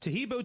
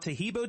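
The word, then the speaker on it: Taheebo: day orders everywhere else arrive in two days tahibo tea is great for healthy people because it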